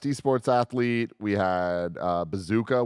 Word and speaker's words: bzkA: athlete we had uh bazooka which is a the best name I've learned last night because it's spelled bzka what breaks my heart